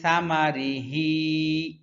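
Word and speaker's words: ثمره: কুলু লিয়া কুলু মিন সামারিহি সা ছা এর উচ্চারণ খুব পাতলা হয় ছা জিহ্বার আগাটা উপরের দুই দাঁতের আগার সাথে লাগবে ছা মিন সামারিহি মিন সামারিহি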